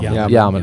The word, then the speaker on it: Yaman: Yaman or Jaman? How do you pronounce it? Yaman. Okay. Made that mistake several times.